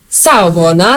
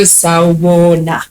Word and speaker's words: Sawubona: So if you say it like, I can't think of it like Sawubona, like it doesn't make sense. You have to go Sawubona for it to make sense, you know.